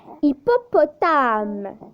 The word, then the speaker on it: hippopotame: Hippopotame. Hippopotame. Pour la lettre H, elle ne se prononce pas.